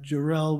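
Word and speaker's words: Jarrell: broke out behind me over the correct pronunciation of Randall Darrell's last name Wilson burst out with accent on the last syllable adding that jerel was just quote an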